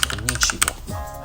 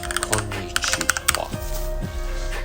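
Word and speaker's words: こんにちは: And then we'll edit the text to some Japanese konnichiwa. Oops, I said it wrong. Konnichiwa. We'll click on done to save it and let's go back and see.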